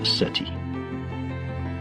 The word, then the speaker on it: SETI: This quest is called the Search for Extraterrestrial Intelligence, SETI, pronounced SETI.